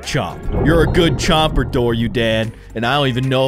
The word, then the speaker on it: Dorudon: Dorudon.